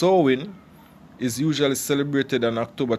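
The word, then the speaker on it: Samhain: modern times so in a Gaelic word pronounced Owen is usually celebrated on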